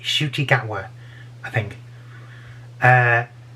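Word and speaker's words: Ncuti Gatwa: doctor is shooti gagwa that's how it's pronounced i've had that's confirmed on twitter this is how it's pronounced i'm not saying it wrong it's shootygatwa i think uh it's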